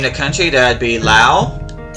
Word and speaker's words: Laos: Name the country, that would be Laos. The S is silent.